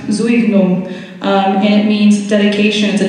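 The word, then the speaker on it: Zueignung: a smaller piece and he's pronounced Zoe boom it means dedication is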